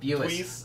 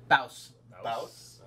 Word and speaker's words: Buis: Buis. Buis. Ironically, Buis. the second Buis? time you said it is actually the technically correct pronunciation in Dutch.